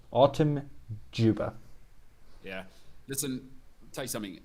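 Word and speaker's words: Dzyuba: bear in mind okay it's felt d zed y u b a right this is yuba it's actually autumn juba spelt j-o-o-b-a autumn juba yeah listen tell you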